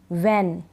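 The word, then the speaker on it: when: अब इसमें एच नहीं पढ़ते हैं हम एच साइलेंट रहता है व्हाट वीट वल व्हेन वेयर व्च whisper वाइट वाई तो यहां पर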